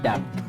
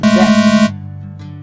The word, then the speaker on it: debt: This is not debt. This is debt. D-E-T. P यहाँ पर silent है.